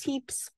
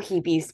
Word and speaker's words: HEPES: is going to be this heaps or hibis people pronounce it different ways and we will take